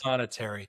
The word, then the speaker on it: Prothonotary: Prothonetary. Yes. When I spell it, every time I spell it, I have to say proto notary.